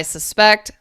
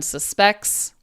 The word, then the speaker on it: suspect: In English, we have something called noun-verb pairs. Now, I don't want to bore you with too much linguistics, but do you see this and this are spelled the same, but I say them differently? So If I say, okay, I'm going to say these two words and try to hear the difference.